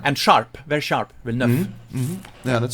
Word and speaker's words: Villeneuve: places that have Neuf, but it's the same pronunciation as Yes. with the VE. But there's nothing special to it. It's Villeneuve. Villeneuve, And, right. and sharp, very sharp. Villeneuve.